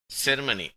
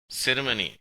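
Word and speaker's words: ceremony: 1972 செர்மனி. பிரிட்டிஷ்காரர்கள் இதை செருமனி என்று உச்சரிக்கிறார்கள்.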